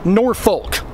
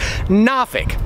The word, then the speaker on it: Norfolk: It's spelled N-O-R-F-O-L-K, but almost nobody around here says Norfolk. Most people, like me, say Norfolk, F-I-K. Some of the old-timers even pronounce it Nafik.